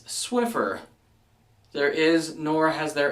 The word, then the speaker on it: Swiffer: cloths that you sweep your floor with it's Swiffer there is nor has there ever been a